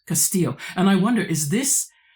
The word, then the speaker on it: Castillo: They're telling me to make sure I say Castillo, not Castillo. And I wonder, is this Castillo's acid test, which determines